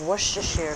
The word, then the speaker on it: Worcestershire: but I was out and one tablespoon of Worcestershire sauce I get a kick out of like on TV how different people pronounce wish to share size what maybe I'm